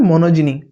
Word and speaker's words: monogyny: अगर मैं आपको बोलूँ मुझे इस वर्ड का मतलब बताइए, MONOGYNY, इसका मतलब होता है, इसका प्रोनाउंसिएशन है मोनोजिनी।